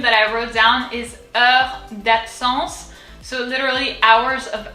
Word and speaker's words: Heures: So the H is silent, so we can already like forget about it. Out of the way, bye-bye. And then EU, remember from feu, EU is E. So re, the R from deep down, from here, from over here. Heure.